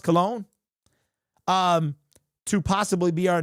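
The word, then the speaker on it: Colon: So, apparently his name is pronounced cologne um to possibly be our new center.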